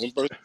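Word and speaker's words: Humberto: Umberto. yeah, is that his name? Is the H is silent, so it's Yeah. Umberto, like umbrella What, you sound or like you're about to throw up.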